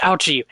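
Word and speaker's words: Auchi: indeed prosecutor out i i really hope that it actually is pronounced ouchy because that sounds like something capcom would do they would make a pun with his name it is ouchi because the modern day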